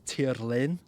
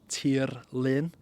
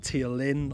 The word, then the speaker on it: Tirlun: some questions as well the name of the channel is pronounced properly as TI Lin TI Lin but at the same time if you call it tiin or even ton it doesn't matter it's a different language